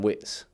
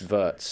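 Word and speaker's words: Wirtz: I've gone Florian Wits. Florian Vvers. Verts. Yes. It's spelled wits.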